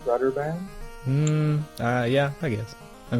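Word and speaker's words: Brøderbund: Uhu, but I believe it's brotherband. Brotherband. Brotherband. Okay. Now, Brotherban, do you want to know the history like why it's called BrotherBand?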